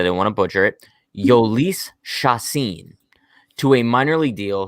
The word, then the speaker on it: Jhoulys Chacin: um they signed i had to look up pronunciation of his name because i didn't want to butcher it yolice shasin to a minor league deal he's 33 years